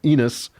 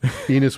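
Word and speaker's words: Enos: And Seth Seth has a son Seth has a son called Enus. And chapter 4 that rhymes with penis.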